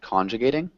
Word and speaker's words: conjugating: One small thing is just the intonation of conjugating. So we actually emphasize the first syllable, conjugating.